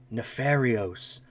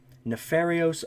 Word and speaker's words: Nefarious: So I really need to actually pronounce the name properly. Nepharosis. Nefarios. Oh, I've been saying it wrong. Nefarios, Archfiend, Eater of Nefariousness.